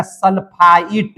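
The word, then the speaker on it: sulfite: अगर इस पर लिख देते हैं SO3 और माइनस का चार्ज देते हैं तो इसका नाम हो जाएगा सल्फाइट। ट का उच्चारण हो जाएगा।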